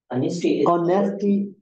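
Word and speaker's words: honesty: ऑनेस्टी एज as silent ऑनेस्टी इज uh virtue, ऑनेस्टी इज a quality है ना, ऑनेस्टी या truthfulness is a virtue.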